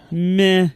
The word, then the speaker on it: Meh: I pronouncing that right meh me me I've never actually said this word you you have to sound more apathetic meh you got it that's